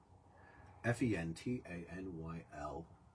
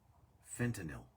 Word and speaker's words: fentanyl: it's really really sad point of order f-e-n-t-a-n-y-l yeah is pronounced fentanyl fentanyl um fentanyl fentanyl it's